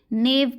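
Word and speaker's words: knave: के साइलेंट है तो के को हमें रीड आउट नहीं करना है। ठीक है, हम बस क्या पढ़ेंगे, नेव पढ़ेंगे।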